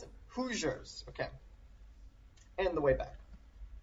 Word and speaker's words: Hoosiers: pronounce it? Hoosiers.